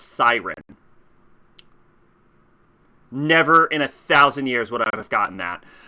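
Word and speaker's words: Sirene: It's pronounced Siren.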